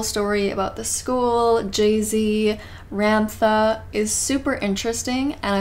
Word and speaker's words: Ramtha: probably going to slip up and call Ramtha Ramtha because that's how I thought it was pronounced at first, and so now it's like stuck in my head, but I apologize. It is pronounced Ramtha, or you can call him Ram for short.